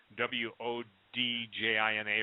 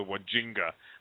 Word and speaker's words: Wodjina: And it's the, I think Stan corrected my pronunciation, Deo did, but it's called the Wodjina, W-O-D-J-I-N-A or something. I used to call them the Wajinga, but it's a Wodjina.